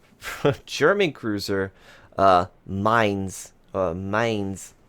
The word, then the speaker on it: Mainz: 8 German Cruiser Mainz Mainz I pronounce it as mine's and that's how I